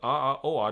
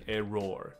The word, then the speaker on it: error: 所以这里，而有些坏球却被错误的 call 成了好球。所以我们知道 error 这个词，我想要再强调一下，很多同学在发音上这边我帮着你矫正一下下哈。错误这个词，error，那这个 error 的部分，很多人就会念的变成。因为你知道 or 念成 or 嘛，所以我们都被 or 这个字给耽误到了。你可能就会把这个字念成 error，因为里面有 or error，不是，我们就把它念成 error 就可以了。所以就是一个 a，然后加上一个